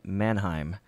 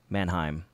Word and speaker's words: Mannheim: so more folks lives in Germany lives in Mannheim that is spelled ma in in hei M there you go brother my town is named after your town Manheim sweet alright so everything's looking good in Mannheim